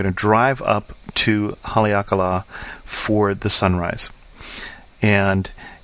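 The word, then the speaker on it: Haleakalā: it line over the a and so it's pronounced as a long long and duration a hakala and it's a national park at the top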